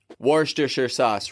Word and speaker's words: Worcestershire: taking on more leadership positions down the road warh disher sauce repeat it after me one more time warsh